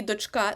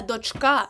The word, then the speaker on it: дочка: а саме донька і дочка запам'ятайте донька наголос на першому складі але дочка наголос на останньому складі на другому і ось це ви